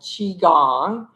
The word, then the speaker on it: Qigong: So, for those of you who don't know, um, what Qigong is or how to say it, it's called Qigong.